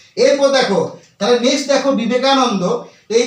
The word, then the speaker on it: বিবেকানন্দ: যদি একদম হালকা বাংলাতে উচ্চারণ করে দিই যে বিবেকানন্দ তাহলে কিন্তু এর উচ্চারণটা সঠিক হবে না আমাদের উচ্চারণ কি করতে হবে আমাদের উচ্চারণ করতে হবে বিবেকানন্দ অর্থাৎ ওয়া আসতে হবে তবেই কিন্তু ভিআই ভি